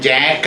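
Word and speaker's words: Jacques: ഈ ഗ്രൂപ്പിലെ ഓരോ അംഗത്തെയും ജാക്ക് എന്നാണ് വിളിക്കുന്നത്. ഫ്രാൻസിൽ ജാക്യുസ് എന്ന് എഴുതും, ജാക്ക് എന്ന് ഉച്ചരിക്കും.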